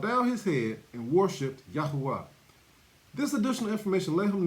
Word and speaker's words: Yahuwah: Y-A-H-U-A-H, Yahuwah.